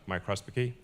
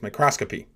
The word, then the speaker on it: microscopy: with a two Photon microscopicy I always have trouble pronouncing that microscopy um and uh he didn't really have it right out of the time it's microscopy it's very impressive technology you